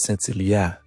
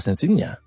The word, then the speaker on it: Sentilia: Finally, he begins to speak to his mother like this: First of all, let me tell you her name is Sentilia, not Sentinia.